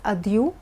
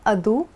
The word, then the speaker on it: adieu: Now this word is pronounced as adieu or adu, both are correct.